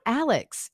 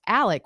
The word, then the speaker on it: Alec: One quick thing, it's not Alex. It's pronounced Alec, which is the Southern way to pronounce Alex.